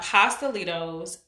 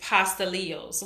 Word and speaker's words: pastelitos: to my attention that it's not pastelitos it's pasta eels which I do know and I don't understand why everybody causes something different because I heard I know there's three different pronunciations for pastelitos it's pastelitos pasta leo's and possibly Joe's so which